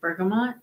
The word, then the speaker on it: bergamot: I had my first taste of, am I going to say it correctly, bergamot?